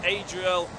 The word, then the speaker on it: Adriel: I cannot wait yeah just to correct my pronunciation is Adriel is the way it's supposed to be said sorry it wasn't